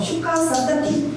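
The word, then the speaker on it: शुकसप्तति: 슈카 사프타티라고 적어놓은 것은 이 국어에서 외래어 표기법 때문에 이렇게 푸 이렇게 적어놓은 것이지만 사실상 여기 보면은 이 푸와 따에 붙어 있잖아요. 그래서 그냥 거의 받침처럼 슈카 사타티 이런 식으로 발음이 됩니다.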